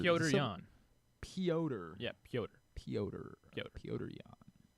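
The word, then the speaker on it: Petr Yan: UFC 323 with Marab and Pietro or whatever. How many syllables? How's that the name you're messing up here? You put extra syllables. Piotr Jan.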